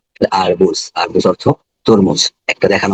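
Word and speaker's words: арбуз: আর বু, আর জেতে ব্যবহারিক ক্ষেত্রে জ, আরবুজ, আরবুজ অর্থ তরমুজ। একটা দেখানো হয়েছে, এই আঙ্গিকে আরো 10টা রয়েছে, এগুলো উচ্চারণ করতে হবে।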